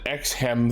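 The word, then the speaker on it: Exharm: of the holy state ex-harm they pronounce it x-hem though but it says ex harm villain potentially his name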